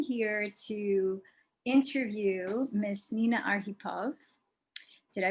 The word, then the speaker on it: Arhipov: and i am here to interview miss nina arghipov did i pronounce that correctly yes his last name who